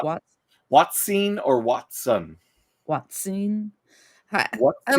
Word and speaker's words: Hoatzin: two ways yeah okay Watson like Sherlock wats watsen or Watson Watson I like the